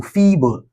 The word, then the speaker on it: feeble: Fee. Then bull. All right. Where do we have it? We have the stress. We usually have the stress syllable in the first. These are patterns. So feeble, feeble.